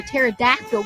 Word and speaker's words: pterodactyl: can't you hear a pterodactyl going to the bathroom guess the p is silent Holly the Thunder radio